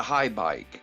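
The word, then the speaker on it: Haibike: It's H-A-I-B-I-K-E Mountain 5 bike. Well, that's the thing. That's a high bike.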